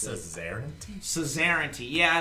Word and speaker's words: suzerainty: Suzerainty. Yeah, it's What like does some... that even mean? Like Czar, like Caesar. Yeah, it's sort of like that. Really? Like suzerainty. It's like an old word